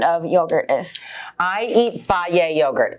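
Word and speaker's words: Fage: yogurt is i eat fairy yogurt f-a-g-e it's pronounced faye um and i love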